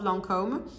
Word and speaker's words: Lancôme: it is idol lanterns of lancome that is how you pronounce it in french this is so pretty